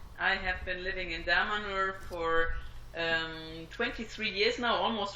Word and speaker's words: Damanhur: I saw the Damanhur, how is it correctly pronounced? Damanhur.